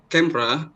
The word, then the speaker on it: camera: Maybe for the word of camera, you can say in 2 syllables, not 3 syllables.